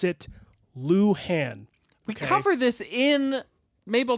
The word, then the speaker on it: Luhan: last name l u h an they also pronounce it Lan we cover this in Mabel Dodge but people